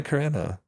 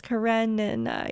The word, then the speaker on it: Karenina: way you say Anna Kar no it's not Kar it's Karenina you're Ming Karina Anna Karina yeah so her husband is karenin and she's karenin uh so